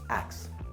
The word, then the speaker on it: ask: One word that I pronounce differently than everyone else is axe. Is it wrong that I say it like that? No, you understand me.